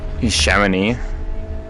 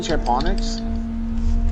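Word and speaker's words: Chamonix: was that track name shamoney or something like that yeah I know that way you mean chonic it's french you don't you don't pronounce the X oh yeah like silent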